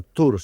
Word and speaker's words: Thor: vida de Thor Heyerdahl, que en noruego se pronuncia Thor, según mis noticias.